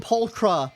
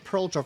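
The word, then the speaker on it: Pulchra: you say her name pulcra that's how they pronounced it in the live triam I definitely thought it was peara for whatever reason but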